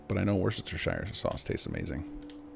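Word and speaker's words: Worcestershire: How do you get rid of that many syllables? You just cut out. So like you go to Worooster. So you cut out the the R C, the H, and the E.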